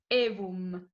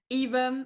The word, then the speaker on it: Aevum: ladies first sorry okay it comes from latin so in italian we would say evom but as maybe it's a bit hard to pronounce from you know english-speaking people like even or even is fine yeah it's fine we